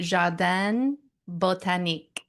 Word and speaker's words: Jardin Botanique: I would say an English way of saying it would be Jardin Botanique. Jardin Botanique. Yeah, that could work.